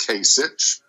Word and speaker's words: Kasich: former ohio governor john kasich um okay it's pronounced kasich that's kasich and none of the